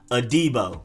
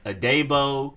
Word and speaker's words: Adebo: tommy togiya then cornerback paulson adibo not adebo adibo a d-bar whatever it's